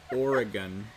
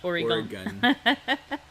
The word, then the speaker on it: Oregon: And it's Oregon. Oregon, not Oregon.